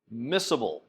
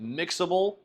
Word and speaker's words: miscible: the two liquids are miscible miscible sometimes in class we pronounce that mixable to help you remember mixable but miscible miscible is the actual pronunciation of that however if one liquid